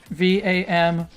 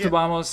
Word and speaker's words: vamos: in spanish and portuguese right pronounced obama's in in spanish or vamos in in well in carioca portuguese i don't know how